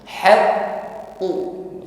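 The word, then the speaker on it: حَقٌّ: Pada kalimat haqqu, qafnya tasydid, ditekan membacanya. Saat menekan huruf qaf, suara hurufnya tertahan.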